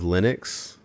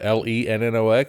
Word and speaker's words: Linux: There's like different ways of pronouncing things. It's like you have Linux. Linux. Like everybody says Linux, right? For what? LENNOX?